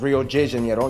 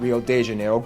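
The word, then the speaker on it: Rio de Janeiro: that's right it's pronounced Rio Jano not Rio Deano get it right we're not in Mexico this is Portuguese not Spanish this was done in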